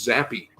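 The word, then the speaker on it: Zappe: pronounces his name is Zappi.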